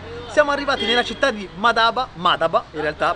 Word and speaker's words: Madaba: Siamo arrivati nella città di Madaba, in realtà, perché la cadenza dell'accento cade sulla prima sillaba, quindi Madaba.